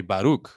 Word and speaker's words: Baruc: and how it sounded but traditionally it's um right in hebrew and there's a there's a hard h at the end and then when you say in the language it's like right yeah but in spanish it's actually baruch right mine because my name doesn't have an h yes so everyone always